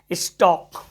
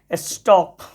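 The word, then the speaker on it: stalk: अब देखो कुछ और शब्द इसमें देखने को मिलेगा आपको, जैसे देखो STAL के क्या पढ़ते हैं, स्टॉक। STAL के क्या पढ़ते हैं, स्टॉक।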